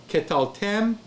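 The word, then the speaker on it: קְטַלְתֶּם: Okay, remember, the shewa is preceded by a short vowel. So it's katal. No, ketal, ketal. Then you add tem. Ketal tem, ketal 10. Okay, so if I say ketal tem, 10 with the N,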